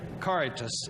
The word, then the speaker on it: Caritas: I want to give it a Spanish pronunciation. But don't. But don't. It is Latin. Caritas.